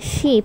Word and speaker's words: sheep: as in the Titanic ship has a shot it sound and sheep has a long e sound next ice the correct